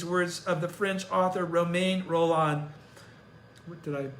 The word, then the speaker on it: Romain Rolland: I impart these words of the French author Romain Rolland. Did I pronounce that correct? Romain Rolland. Say it again. Romain Rolland.